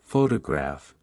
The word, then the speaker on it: photograph: For example, in the word photograph, the stress is on the first syllable, while in photographic, the stress shifts to the third syllable.